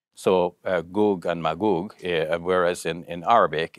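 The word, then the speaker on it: מגוג: but in the hebrew the the gene is pronounced with is it's a hard g so uh goog and magoog whereas in in arabic it's the soft g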